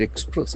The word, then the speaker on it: express: It expresses. E X P R E S S. That is a beautiful verb. Express. Express. There are two syllables. Accent falls on the second syllable.